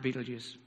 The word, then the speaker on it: Betelgeuse: One star is Betelgeuse, spelt by in the German, pronounced Betelgeuse.